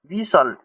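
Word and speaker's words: whistle: अब यहां पे टी टी को हम लोग साइलेंट कर लेंगे। तो ये हो जाएगा आपका विसल।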